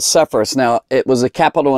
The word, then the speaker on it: Sepphoris: And then right up here was the capital of this area, and it was right here called Sepphoris.